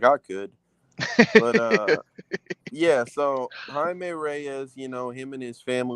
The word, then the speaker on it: Jaime: him Jamie until way later, because it was Jaime. They were saying because in Spanish the fucking J is silent. It's like a H Well, sound Jaime type is shit. also spelled differently. It's Jaime as opposed to Jamie.